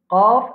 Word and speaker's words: ق: Qaf, un parmi les lettres qui va mourir.